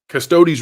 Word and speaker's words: Custodes: pronounce this next word is that custo custodes custodi is like custodian custodes custodes retcon and it goes